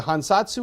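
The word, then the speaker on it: 藩札: took from the internet this is called a hansatsu um according to my japanese friends i am pronouncing that relatively close to accurately so it's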